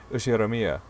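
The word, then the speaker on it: 右代宮: can't the first part is my family name ushiromiya okay that's a very plausible japanese pronunciation so far the problem is my given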